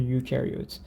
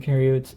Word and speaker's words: eukaryotes: eukaryotes so u oops e u kinda rhymes with yes right so u yes it has that y sound u yes so here